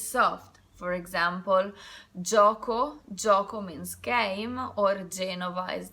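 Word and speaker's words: gioco: a or E it's soft for example Jaakko joka means game or genoa is the city the pronunciation is soft G J Y followed by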